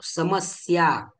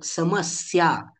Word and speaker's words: समस्या: अशा पद्धतीने उच्चारण करतो समस्या आपण समस्या असं म्हणतो का नाही म्हणत तर समस्या स्या जे जोड अक्षर आहे त्यामधील पहिला अक्षर स याचा आपण जोर देऊन उच्चारण करतो समस्या याप्रमाणे असत्यम असत्य म्हणतो